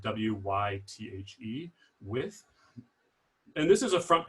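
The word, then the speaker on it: Wythe: the historic neighborhood in hampton of old width it's spelled w-y-t-h-e with and this is a front page article from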